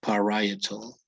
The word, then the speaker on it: parietal: It is actually parietal. Parietal.